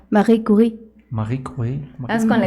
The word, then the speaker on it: Marie Curie: Mariah Curie. Bueno, de hecho esa es pronunciación francesa. Marie Curie.